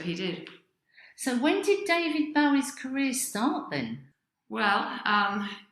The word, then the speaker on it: David Bowie: sarah my first question david bowie david bowie david bowie yeah he pronounced it that way because he got his name from um jim bowie who was some american